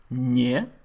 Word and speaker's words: не: Why есть is pronounced with the y sound and не is pronounced without that y sound?